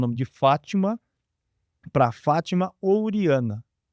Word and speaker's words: Fátima: A pronúncia é Fátima.